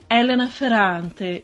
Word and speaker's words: Elena Ferrante: do Elsa Morante, porque em italiano Elena Ferrante se pronuncia Elena Ferrante, e aí fica uma sonoridade bastante parecida com Elsa Morante, né?